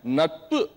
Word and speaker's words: நட்பு: நட்பு அப்படிங்கிற வார்த்தை மட்டும் உச்சரிங்க. நட்பு. குட். நட்பு. நட்பு. நான் ஏன் இதை கேட்டேன் அப்படின்னா, எழுதும் போது குறிலா இருக்கு, பட் பேசும்போது நட்பு நட்புங்கிறப்ப அந்த பூ வந்துருது உள்ள.